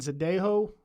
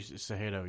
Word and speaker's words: Cejudo: It's been announced that Aldo and Zadejo, is that how I pronounce it? Henry Cejudo, yeah.